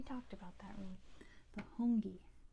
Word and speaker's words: hongi: not sure we talked about that room the hongi spelled like this hungi it's a greeting where you